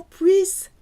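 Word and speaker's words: puissent: Qu'il ou qu'elle ou qu'on puisse. Que nous puissions. Que vous puissiez. The last one sounds like the first three with a silent ENT.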